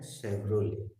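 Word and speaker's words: Chevrolet: एक और है शेवरोले, उच्चारण है शेवरोले लेकिन स्पेलिंग में टी आता है।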